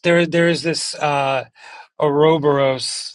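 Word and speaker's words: ouroboros: And it is there there is this uh a robberos that's how you pronounce it you know snake eating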